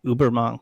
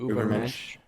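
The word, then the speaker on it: Übermensch: In this chapter, he brings up Nietzsche, I believe, and the idea of the Ubermonk, the Superman. I think I mispronounced that. The Ubermensch.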